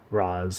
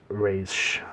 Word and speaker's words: Ra's: team we then see Roz or race however you guys want to pronounce it al Ghul and that's